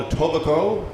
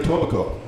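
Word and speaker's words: Etobicoke: part of Toronto called a tobico those of you who aren't in Toronto don't know that the K is silent but it is silent so we're here in the tobico yeah right on and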